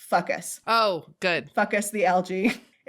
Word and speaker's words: Fucus: And I'm giggling because the scientific name, this is definitely not how the genus is pronounced, but it's fucus.